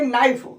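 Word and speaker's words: knife: Grammar नाइफ माने चाकू के एन आई इसको लिखते हैं के एल पढ़ते हैं नाइफ इसमें के साइलेंट है पेशेंट मरीज स्पून, चम्मच, कॉलिंग, बुलाना, हाइट, ऊंचाई और कुल माने ठंडा।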